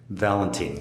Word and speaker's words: Valentine: Did I get that pronounced right? Valentine. Valentine, yes.